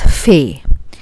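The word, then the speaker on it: ف: It is just like English letter fa. Fa. And the name of this is fe.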